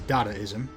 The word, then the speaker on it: Dadaism: so i'm pretty sure the uh correct pronunciation of you know the artistic movement inspired by dada is dadaism but i object to this into the ground that the dayism sounds way cooler also i feel like